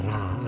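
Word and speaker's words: רע: 히브리어 라입니다. 라. 라라고 읽습니다.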